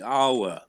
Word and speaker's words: hour: judgment is come the hour the whole Rock it's just we don't pronounce the h again we don't say the